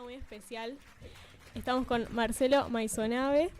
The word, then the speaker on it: Maissonave: Estamos con Marcelo Maisonave. ¿Maisonave se pronuncia así? Sí, perfecto. Ok.